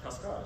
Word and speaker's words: cascara: And we learned that the cascara is a cascara, excuse me, accent on the A.